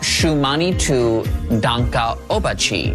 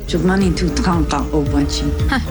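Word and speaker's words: Šuŋgmánitu Tȟáŋka Ob'wáčhi: Dances with Wolves how do you say it shumani to Danka obachi shumani to Danka obachi Dances with Wolves all right I'll take it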